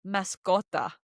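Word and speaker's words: mascota: the word for pet, it's mascot. Mascot. And this word is what we would call a false friend word because it sounds like the word mascot in English, but it means pets.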